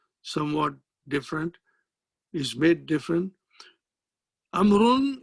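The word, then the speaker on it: عمرو: different is made different amron is written with a wow which is not pronounced see now amaroon comes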